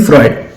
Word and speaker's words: Freud: फ्रॉड बोल दिया या फ्रूड बोल दिया तो वो थोड़ा सा इंप्रेशन गलत चल जाता है, वो बहुत मार्क्स डिडक्ट हो जाते हैं। तो इट्स सिगमेंट फ्रॉइड। मैं इधर ये प्रोनाउंसिएशन के लिए मैं इधर थोड़ा सा लिख देता हूं कि कैसे हमारे को बोलना है।